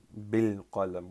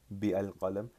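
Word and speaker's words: بالقلم: If you add a ba particle here, you're not gonna pronounce the alif. You're not gonna say bi al qalam. You will pronounce bil qalam, and we talked about that in 19th class.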